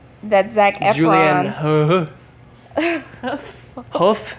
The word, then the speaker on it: Hough: Zach an Julian huh woof is that how you say it like a horse's foot Oh like a huff she did a really